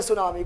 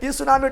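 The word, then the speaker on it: tsunami: टी क्या देना है और टी रहेगा साइलेंट ठीक रहेगा अब पता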